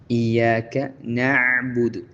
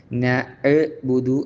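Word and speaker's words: نعبد: പ്രത്യേകം അതിന്റെ മഹ്റജ് ശ്രദ്ധിക്കണം പുറമേ സുക്കൂൻ കൊടുക്കുമ്പോൾ ഒരു പെട്ടെന്ന് നബുദു എന്ന് സുക്കൂൻ കൊടുക്കുന്ന അക്ഷരങ്ങൾ പെട്ടെന്ന് ഉച്ചരിക്കേണ്ടതായിട്ടുണ്ട് നബുദു എന്നുള്ള ആ ഒരു സാവകാശം കൊടുക്കാതെ നബുദു എന്ന് പെട്ടെന്ന് ഉച്ചരിക്കേണ്ടതുണ്ട് നബുദു പറഞ്ഞപോലെതന്നെ നസ്ത എന്നുള്ള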